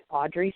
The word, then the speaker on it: Adri: bye okay folks that was Audrey Smith but it's not actually spelled like the traditional Audrey which is a Bri Smith and that's a moss